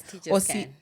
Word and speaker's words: Teachers Can: Is it CAN? Yes, Teachers Can.